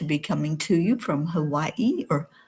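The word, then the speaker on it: Hawaiʻi: So, I'm really really thrilled to be coming to you from Hawaii or Havi as it really is pronounced.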